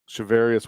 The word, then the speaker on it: Charvarius: Charvarius Ward.